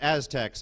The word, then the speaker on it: Aztecs: Uh, worshiped by the Azex for its fragrant aroma. What is the Sincoa? It's pronounced Aztecs.